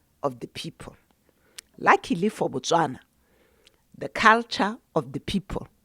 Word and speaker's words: Botswana: It was just the British not knowing how to pronounce Botswana. So to them, Botswana sounded like Bechuana.